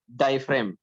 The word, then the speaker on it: diaphragm: डायफ्रेम DIAPHRAGM. तो जी जो है यहाँ पे साइलेंट रहेगा. सो we will say डायफ्रेम.